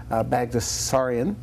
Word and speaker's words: Baghdasaryan: Baghdasaryan. Is that right? Did I pronounce it right?